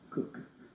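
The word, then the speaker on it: Koch: about the pronunciation and she does I'm pleased to say pronounce it cook and that's Christina's decision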